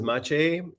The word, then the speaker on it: Maciej: course Eric so um my name is mache and as Eric pronounced it perfectly well uh and um I'm